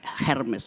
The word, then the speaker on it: Hermes: Namanya Hermes. Bacanya Hermes yang sekarang jadi tas merek mahal.